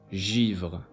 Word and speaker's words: givre: Letter G before E, I, and Y is pronounced as je, givre, âge.